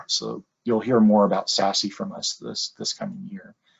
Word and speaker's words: SASE: So when I say that, or SASE is how it's pronounced, at least that's how I've heard it pronounced.